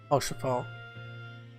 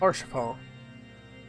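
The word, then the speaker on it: Haurchefant: Orchafon. That's how you pronounce it. Orchafon. Orchafon.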